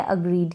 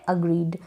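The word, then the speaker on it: agreed: कैसे, पहली जो स्पेलिंग है ये है अग्रीड, क्या है, अग्रीड। अब डी का साउंड यहाँ पर आएगा क्योंकि ये इसकी आवाज़ आएगी, ठीक है, इसकी वॉइस आएगी इस डी की, ड।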